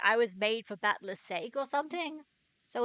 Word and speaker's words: Battler: Battler is, Japanese doesn't have silent E's. Keep that in mind, and pronunciation becomes easier. Okay, as in, like, you know what? I'll look that up another time. Meanwhile, Battler is just mass hallucinating.